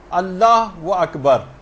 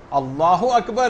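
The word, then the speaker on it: الله أكبر: مثلا اللہ و اکبر، اللہ اکبر ہے، اللہ و اکبر نہیں.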